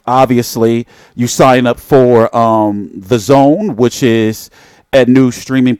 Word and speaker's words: DAZN: it confuses me because I try to say The Zone, which it's called, but it's spelled this way. Damn it. This silly way with this D-A-Z-N is weird.